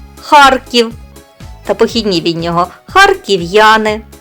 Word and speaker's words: Харків: свої норми твердості так в кінці складу принципова літера р ніколи не потерпить в своєму сусідстві м'який знак за винятком прізвища голький отже і звучить Вона завжди твердо запам'ятайте вимову нашого міста Харків та похідні від нього